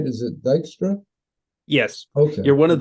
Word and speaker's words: Dykstra: And am I pronouncing that right? Is it Dykstra?